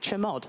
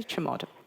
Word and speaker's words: chmod: So I pronounce it chmod. I don't know if everybody else says that. I say chmod.